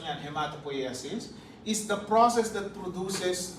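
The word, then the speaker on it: hematopoiesis: Ang pronunciation niyan, hematopoasis is the process that produces the formed elements of the blood.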